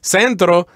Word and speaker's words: centro: actually three syllables yes Centro the accent goes in the in the first syllable just like in English